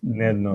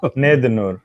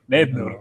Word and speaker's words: Nednur: Or yes, Nednur. That's the American way of saying. How do you say it in Telugu? Nednur. Nednur.